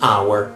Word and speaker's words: hour: Well, the exam, the hour, and in this case, the word starts with the vowel, okay, the exam, and obviously we have H here, but the H is mute, so we don't pronounce it.